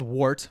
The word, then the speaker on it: wort: liquid which is called the wart and so it's spelled wart but it's pronounced wart w-e-r-t yeah um it's